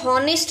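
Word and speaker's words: honest: हम एन लगाते हैं वैसे ही नेस्ट ये ऑनेस्ट नहीं है यहां पे भी हा क्या है साइलेंट है और ये ऑनेस्ट पार्ट है इसको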